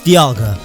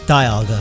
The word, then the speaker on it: Dialga: It's Dialga, not Dialga, sorry.